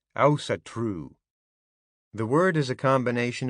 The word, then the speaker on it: Ásatrú: The Scandinavians all pronounce the word differently, but in English, the Icelandic way of saying it would phonetically sound like Ásatrú.